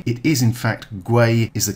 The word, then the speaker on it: gwei: this video for some reason i've been saying guai it is in fact gray is the correct pronunciation my apologies thanks very much for watching